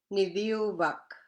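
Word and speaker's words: niviuvak: And when you break this one into syllables, it's Ni, so that's NI, V, sorry, Niviu, VIU, and then last syllable, Vak. So 3 syllables in this one. Ni, Viu, Vak.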